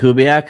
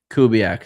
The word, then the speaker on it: Kubiak: Clint Kubiak, I believe he was the quarterback coach for the Vikings. Yes, a few years ago. Yeah, something. How do you say his last name? Kubiak.